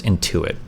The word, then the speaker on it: Intuit: it I think is the tax service it's Intuit you're right why Destiny is already a socialist